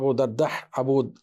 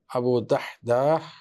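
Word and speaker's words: أبو الدحداح: সাল্লাল্লাহু আলাইহি ওয়া সাল্লাম আবু দাদাহু আবু দাহদাহ আবু দাহদা উচ্চারণটা কঠিন দাল হা সকুন দাল আলিফ হা আবু দাহদাহ রাদি আসেন এবং বলেন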